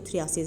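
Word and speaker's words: phthisis: ये थिसिस है इस इसका पीएच जो है साइलेंट रहता है इसको थ्र आसेस हम जो है प्रोनाउंस करते हैं ठीक देन उसके बाद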